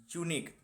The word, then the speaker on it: unique: Unique, there is an example of unique. In unique spelling, we have to pronounce U, okay, like Y.